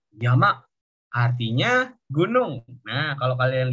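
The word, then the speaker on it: 山: Kalau ini di bahasa Mandarin bacanya Sang. Di bahasa Jepang bacanya Yama.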